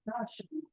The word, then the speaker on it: Rashomon: It's pronounced Rashomon. Rashomon. Okay, sorry, Rashomon. I don't know. Japanese. It's a Japanese word.